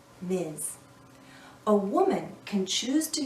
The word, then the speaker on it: Ms: we pronounce this as Miz Ms sounds like a z at the end Miz a woman can choose